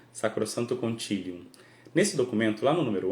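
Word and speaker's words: Sacrosanctum Concilium: Para pronunciar latim certinho, Sacrosanto Concilium.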